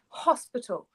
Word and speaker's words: hospital: Again, it starts with H-O, but we pronounce the consonant. We pronounce the H. So it's hospital.